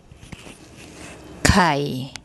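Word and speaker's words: ไข่: Okay, we have a short I vowel written before the consonant, one of the K consonants, and the first tone mark. ไ ข ่ ไ ข ่ ไ ข ่ And that one means egg.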